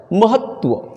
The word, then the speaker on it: महत्व: महत्व, ये भी गया, महत्व नहीं, महत्व, महत्व, म ह आधा त और पूरा व, उस तरह से महत्व, यहाँ पे डबल त आ गया, महत्व, तो ये भी गलत है।